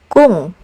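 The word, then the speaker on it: 궁: But when placed at the end of syllables, it's pronounced as ng. Like in the word kung, which means a palace.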